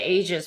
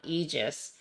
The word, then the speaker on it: Aegis: enough um you say ages because it's not Aegis AE is pronounced e I know this but